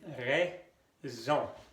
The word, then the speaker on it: raison: La A y la I hacen el sonido E. Por eso se dice raison.